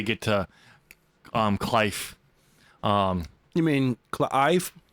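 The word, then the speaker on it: Cliife: You mean Clive? Cleef? Iffy. Clive. It's spelled C-L-I-I-F-E. One of the I and the E are silent.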